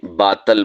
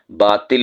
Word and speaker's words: باطل: ایک لفظ ہے باطل، ہم اسے باطل بول دیتے ہیں، ہمیں باطل کے خلاف لڑنا چاہیے۔ باطل نہیں ہوتا، باطل ہوتا ہے، تو آ کے نیچے زیر ہے، عربی زبان کا لفظ ہے، معنی ہوتا ہے جھوٹ،